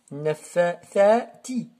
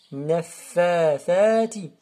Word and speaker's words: النَّفَّاثَاتِ: Nafathati. On presse le nun et on presse le fa. Et ici, c'est le tha. Et ici, c'est le ta.